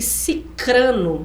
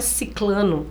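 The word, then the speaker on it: sicrano: iato entre mim e cicrano não é ciclano Olha Há um iato entre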